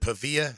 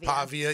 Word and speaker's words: Pavia: You know, be interesting that I see where uh uh is it Pavilla? Is that how you pronounce his name? Pavia.